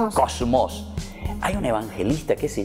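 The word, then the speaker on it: κόσμος: era el mundo eso saben cómo se dice en griego se dice cosmos digan un poco como se dice en griego kósmos hay un evangelista que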